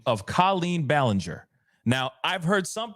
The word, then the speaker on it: Colleen: Oh, apparently KC just says she does pronounce her name Colleen. Wow. Like codeine. Okay. Then it's Colleen.